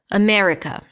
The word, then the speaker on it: America: And again, the first thing you need to do is to identify what the primary stress is. America. On what syllable would you snap your fingers, clap your hands, nod your head. America. The me.